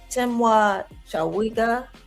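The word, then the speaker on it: Temwa Chawinga: Tima Shawiga scored a brace. I hope I pronounced her name right.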